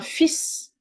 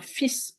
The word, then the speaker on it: fils: Un fils, a son. We don't pronounce the L. Un fils, a son.